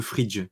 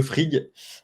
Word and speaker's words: Frigg: vous appelez le frig, c'est ça, ou le fridge, du coup, comment on le prononce? Le frig. Le frig, ok.